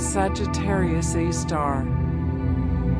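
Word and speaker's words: Sagittarius A*: A super massive black hole called Sagittarius a asterisk pronounced Sagittarius A star.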